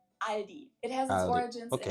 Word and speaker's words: Aldi: and say all these in Germany we just say ali it has it origins in 1945 brothers teo